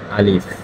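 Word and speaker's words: ألف: আলিফ এটা হচ্ছে আলিফ। আলিফ। আলিফে হালকা হালকা হাওয়া বাইর হবে আলিফ উচ্চারণ করার সময়।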